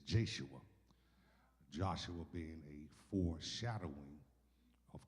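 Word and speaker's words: Yeshua: But if you translate the name Jesus in the New Testament in Greek, it is pronounced the same as Joshua's name, which is Jeshua.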